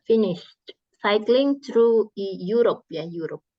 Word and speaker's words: Europe: He has not finished cycling through Europe ya, Europe. Jadi ini bacanya pakai y gitu.